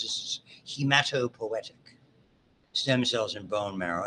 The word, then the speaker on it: hematopoietic: Okay, and there's also, when we get to the blood, you'll hear about it in the way you pronounce this, is hematopoietic stem cells in bone marrow.